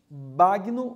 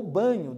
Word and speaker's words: Bagno: é uma entrevista com Marcos bagno ou banho depende aí as pessoas usam essas duas pronúncias por Marcos vem diz